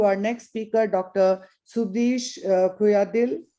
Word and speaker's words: Kuyyadiyil: Subeesh Kuyyadiyil. Am I pronouncing your name? Yes, absolutely right.